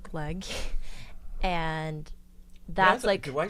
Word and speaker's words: gløgg: drink in the Christmas time, and it's called gløgg. And that's Do I say it right? Gløgg? yeah, gløgg.